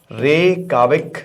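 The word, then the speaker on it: Reykjavík: और उसकी कैपिटल है रे काक याद रखिएगा कि इसमें जे जो है व साइलेंट है ओके तो आपको बता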